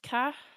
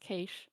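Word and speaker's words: cache: That's pronounced k. No, it's not. It's usually cash. I get yelled at so often for this. I just pronounce it cash. Or no, K. I pronounce it k. Yeah, it's usually cash, I think. I'm going to look that up. The Australians pronounce it k which is my only excuse. I think yeah, Google says cash.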